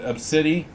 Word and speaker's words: Abcde: for you who don't know who Pupcake is, they're a supposed pit bull service dog for a little girl named Absidy, which is spelled ABCDE, which I think is absolutely horrible of the parents to do.